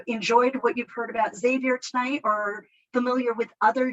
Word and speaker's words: Xavier: them for a loop so it is xavier even that x it is xavier but then usually their